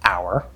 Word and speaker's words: hour: sound now note that sometimes you will see the letter h and it's silent it's just spelling like in the word hour or in the american pronunciation of the word herb and sometimes you will